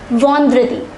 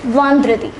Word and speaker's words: vendredi: For Friday, we pronounce it as vendredi. See carefully, it is vendredi.